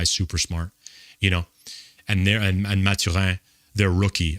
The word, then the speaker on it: Mathurin: And Mathurin, their rookie, I pronounce it in French because he's from Montreal, as am I, but unbelievable.